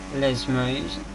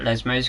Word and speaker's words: Lesmo: They're going out of the Lesmos. Not Lesos, K Grande.